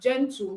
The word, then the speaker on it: gentle: One of the ways to know is when G appears before EIY, you pronounce as J.